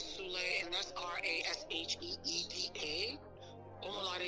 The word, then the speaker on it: Omolade: On Instagram is Rasheeda Omalade Sule, and that's Rasheeda. Omalade is spelled Omolade, and Sule is Sule.